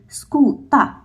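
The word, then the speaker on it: skuta: use the hard vowel I will write s k u t a so we will pronounce it as a scoota not ka another example when I'm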